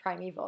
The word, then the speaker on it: primeval: We don't say this is the forest primeval. Really, it's primeval. So here, knowing how to pronounce the word primeval is very helpful.